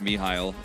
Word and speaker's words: Mihail: It is pronounced Mihail, but it just isn't how you would pronounce this in like Hangler if it was written out, so like it throws me for a loop, but it's Mihail, so.